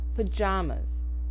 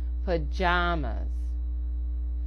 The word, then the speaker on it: pajamas: Pajamas. Again, 3 A's, with 2 being produced as the short schwa or sound, and the middle A getting the full pronunciation. Pajamas.